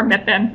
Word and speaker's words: MIPN: the Midwest invasive plant network or Mittman as we pronounce our acronym and I'll be your